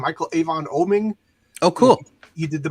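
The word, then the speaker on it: Michael Avon Oeming: Michael Avon Oming.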